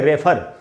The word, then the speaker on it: refer: जैसे एक वर्ड है REFER, जिसको हम लोग बोलते हैं रेफर, कि डॉक्टर ने वहाँ रेफर कर दिया, वो रेफर नहीं होता, उसका उच्चारण होता है रिफर।